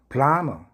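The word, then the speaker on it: plumber: 남 플라머 플라머는 백관공 배관 기술자를 말하죠.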